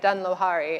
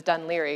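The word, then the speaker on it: Dún Laoghaire: for a while and there was a sign that said Dun Lohari and the way you pronounce it is Dun Liry. You just need to take out a few syllables when things I think are written in in Gaelic.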